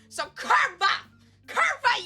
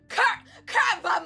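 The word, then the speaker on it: kurwa: Apparently W is V in Polish.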